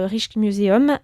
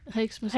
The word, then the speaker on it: Rijksmuseum: Rich rich IJ se prononce he rich re r re Museum. On prononce le S ou non du coup ? Rex Rex Muséum. Rex Muséum.